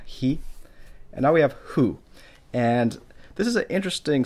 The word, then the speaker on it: ふ: And now we have hu. And this is an interesting sound because the hu sound, sometimes it actually starts to sound almost like an F.